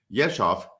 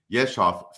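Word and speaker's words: Yezhov: 1938 this poor fellow this little fellow there yeshov fell from stalin's favor by the way it's y-e-z-h-o-v is how you spell it yeshov fell from stalin's favor after being usurped by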